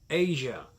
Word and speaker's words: Aja: This is Asia, pronounced Asia, released on September 23rd, 1977.